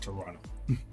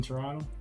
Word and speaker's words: Toronto: We just call it Toronto. We don't pronounce that last T for some reason.